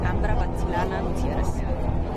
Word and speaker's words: Ambra Battilana Gutierrez: Ambra Battilana Gutierrez. Spell that, please.